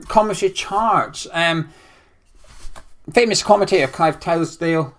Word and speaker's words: Tildesley: Famous commentator Clive Tilsdale. How do you say him? Clive Tildesley. Tildesley.